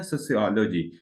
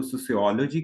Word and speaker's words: sociology: अच्छा, ये जो एक लफ्ज है ना सोशियोलॉजी, इसकी दो मुख्तलिफ प्रोनाउंसिएशन हैं। कुछ लोग इसको सोशियोलॉजी कहते हैं और कुछ लोग सोशियोलॉजी कहते हैं। इट्स अप टू यू, आप सोशियोलॉजी कहें तो भी ठीक है, आप सोशियोलॉजी कहें तो भी ठीक है।